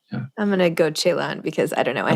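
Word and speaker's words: Celan: by you pronounce it chaan chaan Chan either San or chaan if you use a Romanian pronunciation or a German pronunciation yeah I'm gonna go chaon because I don't know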